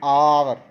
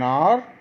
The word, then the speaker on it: hour: ये भी वर्ड्स देखिए H से स्टार्ट हो रहे हैं, लेकिन हमें स्पेलिंग्स का फर्स्ट लेटर लिखा हुआ वोवल नहीं देखना, हमने उसके साउंड को पहचानना है। उसका साउंड वोवल में आना चाहिए, तभी हम एन लगाएंगे।